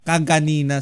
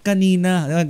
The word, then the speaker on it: kanina: Ano ang tamang pagbigkas? Kanina o kaganina? Pinagtatanunan namin yan nung elm ako eh. Kasi yung kaklase ko pagbigas niya kaganina. Sabi ko tol yan kaganina dapat kanina. Alam ko yun eh.